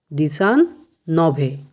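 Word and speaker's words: diciannove: 19এর কি উচ্চারণ হবে? দিসান নভে।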